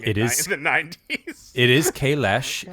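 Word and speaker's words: Kahless: actual pronunciation for Klingon, Kalesh should be pronounced Kalesh. They just pronounced it wrong in the 90s. It is Kalesh. The S has a sh sound.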